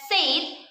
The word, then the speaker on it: said: Number 10, said. So far, most Indonesians have mispronounced this word. They pronounce it as said, which should actually be pronounced as said.